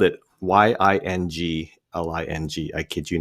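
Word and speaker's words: Yuengling: Yingling on Draft, but they had spelled it Y I N G L I N G.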